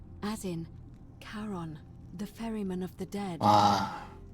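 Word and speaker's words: Charon: it's just as you described it only your pronunciation is a little off the name you heard wasn't karen it was c h n as in caron the ferryman of the dead karon who in exchange for the right coin helps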